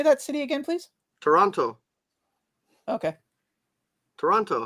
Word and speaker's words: Toronto: how do you say that City again please Toronto okay Toronto how do you say it no you're saying it right Toronto Toronto Toronto yeah Toronto Toronto Ottawa if I